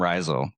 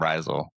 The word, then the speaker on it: Rhizal: One of the downsides, but it actually comes from the word mycorrhizal, which in that context,